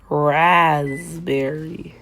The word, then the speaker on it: raspberry: So, raspberry will now be spelled rasberry like it's pronounced.